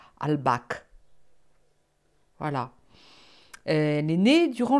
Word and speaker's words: Albach: Hein, on prononce en allemand Albach.